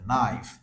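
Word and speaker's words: knife: সে কারণে খেয় উচ্চারণ হচ্ছে না ন এর উচ্চারণ হচ্ছে নাইফ যেরকম ট্রান্সকে এখানে দেওয়া আছে ন আই এফ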